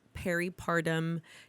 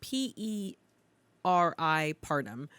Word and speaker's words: peripartum: It's spelled P-E-R-I partum. And so I say it peripartum.